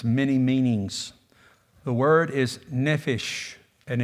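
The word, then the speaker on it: nephesh: because of its many meanings the word is neish and it's spelled in NE e p h e s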